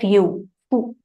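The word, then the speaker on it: ふ: right ha he who but actually it is pronounced as Fu so wherever we particular nohana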